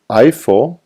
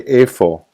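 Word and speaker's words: איפה: have the h but you don't pronounce the yod in this case so you don't see you don't say I4 you say A you say A4 so you you pretend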